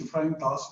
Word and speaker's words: इफ्राहिम दास: सिर्फ मेरा नाम डालें इफ्राहिम दास, बिब्लिकल स्पेलिंग जो है इफ्राहिम के EPHRAIM और DASS, इफ्राहिम दास डालें वो यूट्यूब में सारा आ जाएगा।